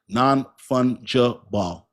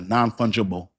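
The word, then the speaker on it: non-fungible: Thank you for helping me pronounce that. That's uh sounds like nonfunable. Nah, nonfungeible.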